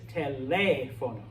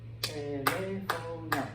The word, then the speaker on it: teléfono: But because we have an accent mark on the E here, this word is teléfono.